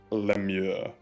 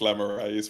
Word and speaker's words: lemure: It's pronounced Lemure, but I will make a history check on what they might be as for character. For my character. In your world, they may be pronounced lemures, but for that, you